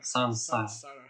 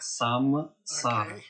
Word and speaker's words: saṃsāra: Сансара. Вы поняли? Да, произношение сансара. Что означает этот значок внизу? Пожалуйста, не произносите это как самсара.